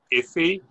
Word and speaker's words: IFI: for future initiatives um ifi the only way you can pronounce it is iffy and and i guess